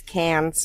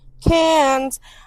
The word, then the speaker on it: Cannes: Well, It's Cannes. Yeah, according to Google, it is canned. Cannes. All right. Well, you don't pronounce the S, it's just canned.